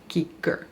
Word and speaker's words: cicer: They say you pronounce the C before an I and E as a K, so CICER.